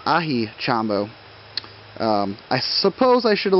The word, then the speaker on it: Aji Chombo: I was calling them Aji Chombo, but I guess the name is Ahi Chombo.